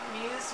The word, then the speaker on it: Mus: Muse by mie ro Muse means to inspire it's pronounced Muse not like must or anything like M and Mali R is